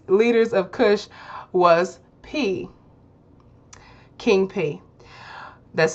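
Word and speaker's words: Piye: Number 2, one of the most famous leaders of Kush was King P. That's spelled P-I-Y-E, King P, who conquered Egypt and became the Pharaoh of Egypt.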